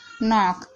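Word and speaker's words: knock: जैसे कि नो, not, knife, नॉक। तो यहाँ पर देखिए शुरू में सबसे पहले के आ रहा है, उसके बाद एन आ रहा है, तो इन सभी वर्डों में के साइलेंट है।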